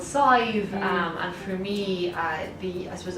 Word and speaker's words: Sadbh: And her name is Scythe because it's spelled like, I know people have asked me already, they're like, how on earth do you pronounce this? Because it's like SADBH or something, you know, like ridiculous.